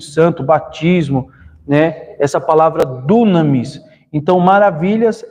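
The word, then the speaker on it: δύναμις: E operação se lê enérgema, maravilha é dunamis. Então, a gente é uma palavra comum, né? Maravilha. A gente sempre ouve falar quando se refere a poder do Espírito Santo, batismo, né? Essa palavra dunamis.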